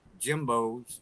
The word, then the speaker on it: Jimbeaux: For the same price or cheaper, I can go to my local Jimbo's, spell Jimbeaux. That's how we spell it down here in Cajun country.